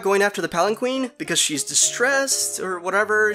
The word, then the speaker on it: palanquin: able to retrieve that palanquin. Actually, it's pronounced palanquin.